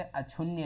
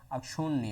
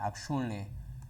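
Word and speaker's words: अक्षुण्ण: रटने वाला है, अगर जो आप थोड़ा अपने उच्चारण पर ध्यान देंगे तो ये शब्द से इस तरह के सही हो जाएंगे। जैसे अक्षुण्य नहीं होता है, अक्षुण्य होता है, अक्षुण्य, इसमें जो है ऋणा होती है।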